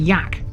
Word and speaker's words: Aike: the same story here ache literally means oak the locals sometimes pronounce it yak last week we mentioned